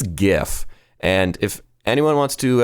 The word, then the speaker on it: GIF: work the other day somebody pronounced the word or acronym G as GIF and I almost quit my job because it's GIF and I don't care that the Creator says it's GIF that's just his sorry attempt at staying